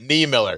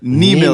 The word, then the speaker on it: Niemiller: Niemiller. Niemiller. Body part the beer.